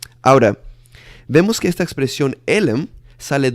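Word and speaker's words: עלם: Se dice elem, E-L-E-M, elem, ¿ok?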